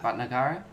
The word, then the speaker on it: Bhatnagar: I'm gonna try to pronounce it. It's a little difícil. Ambush. Yeah. Bhatnagar.